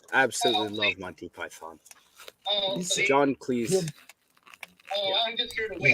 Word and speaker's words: Cleese: But it's Cleese, like cheese, because that was his name before it was The changed.